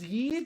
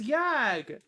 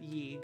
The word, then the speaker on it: Yag: think that' be important thought it was Y no it's yag it's yah with a G it's yag you can call it y I won't be upset the yag co-founder pronounces it ye so it's only fair